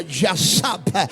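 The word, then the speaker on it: יָשַׁב: Y el salmista lo dijo muy claro: el que habita, palabra hebrea que tiene la misma connotación, donde se refiere o se pronuncia yasab, que significa, vuelvo y reitero, morar o habitar.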